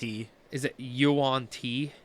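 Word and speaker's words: Yuan-ti: fairy, to fucking I gotta make sure I pronounce it. Is it Yuan Ti? Yuan Ti Pureblood.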